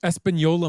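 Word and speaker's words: Española: The Espanola mockingbird. Yeah, it's the N is an Enye.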